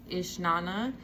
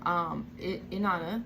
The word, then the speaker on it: Inanna: And I came across the story of Ishnana and Demuski. Am I saying it right? Or am I? Oh gosh, and Demuzi. My bad, Demuzi, right? Inanna and Demuzi, Ishtar and Tammuz.